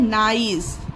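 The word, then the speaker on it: nice: Spelling में भी एन आई सी ई ये है एन आई ई सी ई। ठीक? यहां पर सिर्फ ई का डिफरेंस आया है। इसीलिए इसे नीस इसे नाइस पढ़ा गया।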